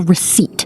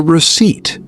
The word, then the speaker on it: receipt: That small paper is called the receipt. The receipt. R E C E I P T. The P is silent.